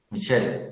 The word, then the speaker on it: Michael: Michelle. ¿Y así se escribe? No, sí se escribe Michael. Solo se pronuncia ok.